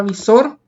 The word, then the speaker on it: visor: ¿Qué tipo de palabra será la palabra visor? Es una palabra aguda, visor. Lleva la mayor fuerza de voz en la última sílaba.